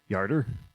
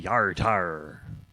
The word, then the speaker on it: Yartar: Yarder. But now we are required to say Yartar.